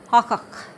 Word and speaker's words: Hakak: Here's where it sounds like a K. Really sounds like a K. It's at the end of a word for soup. Hakak.